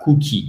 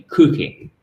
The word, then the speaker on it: cookie: Et pas cookie, mais cookie, OK?